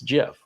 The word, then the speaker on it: GIF: don't have to, but if you want to pronounce it right, it's GIF, but I don't care if you want to pronounce it right or not.